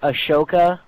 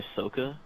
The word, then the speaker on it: Ahsoka: okay you know you know the alien chick Ashoka Ashoka you mean Ahsoka oh my God okay but how is it